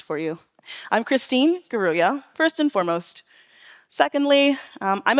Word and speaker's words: Ngaruiya: That's my name, phonetically pronounced for you. I'm Christine Ngaruiya, first and foremost.